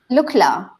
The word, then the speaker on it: Lukla: airport in the world Oh workers how you pronounce it look LA yeah look like yeah right that's where you